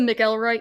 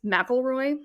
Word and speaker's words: McElroy: You know, I just said Mick Elroy. It's Mroy.